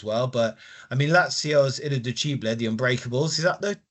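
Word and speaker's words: Irriducibili: But I mean, Lazio's Irreducibile, the Unbreakables, is that the correct pronunciation? Yeah. Irreducibile, pretty much there, yeah.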